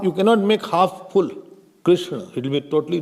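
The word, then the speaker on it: कृष्ण: Krishna would be Krishna, not Krishan. Half, you cannot make half full. Krishna, it will be totally wrong, you will get 0 marks.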